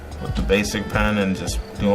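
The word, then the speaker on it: Bazic: Well, the brand is Basic, B-A-Z-I-C, Basic. It's a SPRI brush, spray I suppose they pronounce it.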